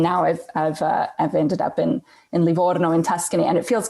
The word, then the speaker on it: Livorno: And by the way, I'm so impressed that you can roll your R's like that, because you didn't learn that in Menlo. You didn't learn that in California. So the fact that you can go Livorno is just beautiful.